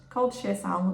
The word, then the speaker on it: Seixal: the working name of Seixal, okay? It's spelled differently, and I went on holiday to Madeira in May, and there's a beautiful beach there called Seixal, that's how it's pronounced, and yeah, the colours